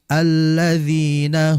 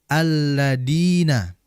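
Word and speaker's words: الذين: Perhatikan di alladzina, huruf dzal. Jangan sekali-kali kita membacanya seakan-akan seperti huruf dal. Alladina. Ya, hati-hati. Dia huruf dzal ini ujung lidah berjumpa atau bertemu dengan ujung gigi seri atas. Dza. Alladzina. Alladzina.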